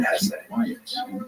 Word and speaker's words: Hesse: It was written by Hermann Hesse. And by the way, please allow me this pronunciation of his last name. I've heard some people say Hesse, but my whole life I've always said Hesse.